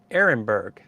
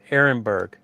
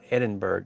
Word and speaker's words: Ehrenberg: So he said it is Ehrenberg. That's right, Ehrenberg. I was pronouncing it wrong. It's not Edinburgh, it's Ehrenberg.